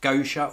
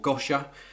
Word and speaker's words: Gosha: these were a collaboration is either pronounced Gosha or gasha I think it's go sure in collaboration with Burberry